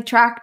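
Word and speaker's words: Trach: find me at track calm my last name is spelt tra CH even though I pronounce it like track and field you can take the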